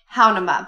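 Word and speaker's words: Hanauma: We went to it's pronounced Haunaima Bay, but it looks like Haunaima.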